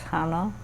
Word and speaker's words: Hana: Um, so grandma, if you could say your full name for the record and then spell it also, that would be good. Uh, my full name is Hana.